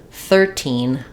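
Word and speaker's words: thirteen: than the other so uh 13 and 30 stressing more on teen 13 14 stressing more on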